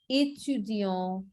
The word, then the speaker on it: étudiant: and the pronunciation is étudiant, détail, épluché. Okay, so A is the pronunciation. Okay, the words with accent aigu, I'm writing some examples. Étudiant, student. Détail, details. So the pronunciation of accent aigu is A.